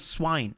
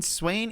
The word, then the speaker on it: Swain: And he would call Swain swine. And he was adamant that it was called swine. I'd be like, do you mean Swain?